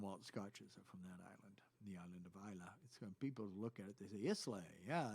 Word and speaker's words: Islay: like that's it so it's the ILA though when you get there it's Isla and so I was